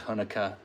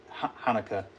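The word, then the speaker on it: Hanukkah: we have two holidays Thanksgiving and Christmas and hukah Hanukah let me say it correctly and a whole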